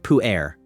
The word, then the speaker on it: pu-erh: equivalent anywhere else in the tea world, pu-erh, pronounced pu-erh.